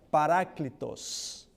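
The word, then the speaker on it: παράκλητος: Esta palabra en griego, la palabra consolador en griego se pronuncia paráclitos.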